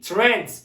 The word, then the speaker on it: trend: almak buradan geliyor arkadaşım tren değil bakın tren değil Trend Trend olmak popüler olmak trendi ifadesi